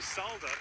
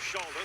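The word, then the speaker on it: Šalda: down picked i understand they call him salda and saint john in the quebec major generally but the czech pronunciation is shalda so we'll go with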